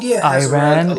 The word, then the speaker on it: Iran: The Iranian-speaking peoples of Afghanistan and Iran, but we're going to that's a common pronunciation error. I mean, people don't say Iran, it's Iran.